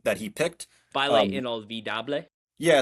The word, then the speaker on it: Inolvidable: he picked, Baile um, Inolvidable. yeah. So I saw it earlier and I thought that it was Bail Unavoidable or Inavoidable. Because that's how it looks.